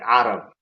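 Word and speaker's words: Carab: In Somali, we say Arab with a ayn. Like Arab.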